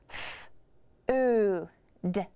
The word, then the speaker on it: food: F-O-O-D. Food. That sounds right. Here, the OO is making the OO sound.